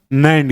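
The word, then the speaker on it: NAND: Exactly pronunciation नैंड gate होगा, ठीक है।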